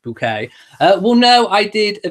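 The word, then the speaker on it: Bucket: And those of you who watched my Sheridan bouquet video, B-U-C-K-E-T, pronounced bouquet, will know I did a video on how not to have a tacky Christmas.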